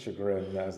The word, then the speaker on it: Chagrin: Shagrin. Is that right? Dispatch. Yep. I know a lot of people mispronounced it.